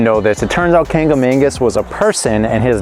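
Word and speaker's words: Kancamagus: We had no idea it was pronounced this way, but it's Kangamangas apparently, and not Kangamangas, so a little disclaimer there, sorry. So I didn't know this. It turns out Kangamangas was a person, and his name means the fearless one.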